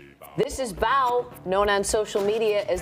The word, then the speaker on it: Bao: So you adopted Bao. Am I pronouncing his name right? Yes, you got it. It's Bao.